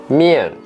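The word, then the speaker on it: 面: write the piña again Chung with the fourth tone mia also with the fourth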